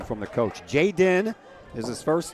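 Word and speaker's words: Jaiden: So, I got the pronunciation from the coach. Jay Den is his first name and it's uh spelled J A I and then D E N.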